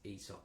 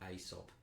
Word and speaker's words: Aesop: Um, and by the way, the bloke that by the way, the bloke who wrote the fables, not Asop, it's ESOP, like I said.